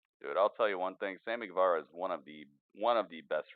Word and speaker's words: Guevara: Sammy Guevara versus Wonder Woman.